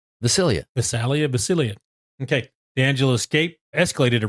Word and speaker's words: Visalia: It's Visalia.